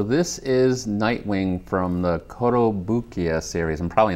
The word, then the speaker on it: Kotobukiya: Okay, so this is Nightwing from the Kotobukiya series.